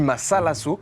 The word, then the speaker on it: mazalazo: Ça se dit masalasso parce qu'au Pérou, les Z se prononcent très S.